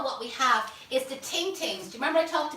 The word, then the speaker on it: ting ting: And I said everybody thinks I pronounce it wrong, because I know I have a right Dublin accent, but they are actually called ting ting, T-I-N-G, T-I-N-G, and these curly whirlies.